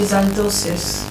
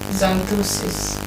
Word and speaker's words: xanthosis: Your final word is let's say xanthosis. Xanthosis. Yeah. Z-A-N-T-O. It doesn't start with a Z. Some words are not spelled the way they are pronounced.